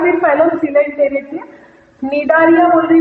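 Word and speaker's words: Cnidaria: है, मैंने बताया था, निडारिया में सी साइलेंट है। तो second phylum is phylum निडारिया या फिर फाइलम सिलेंटेरेटा। निडारिया बोल रही हूँ मैं, सी साइलेंट।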